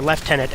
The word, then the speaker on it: lieutenant: that he actually becomes a lieutenant or left-tenant as the British say which is higher rank